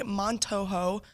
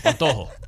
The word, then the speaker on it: Montojo: Texas A&M men's golf standout Jaime Montojo made a hard... That was fantastic. Good job. Thank you. I had the pronunciation here. I was going to master it. I would have done it in Spanish. Montojo.